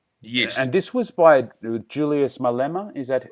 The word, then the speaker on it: Julius Malema: And this was by Julius Malema. Is that how I pronounce his name?